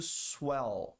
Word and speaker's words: swell: To swell. Tem que pronunciar o L, hein? Swell.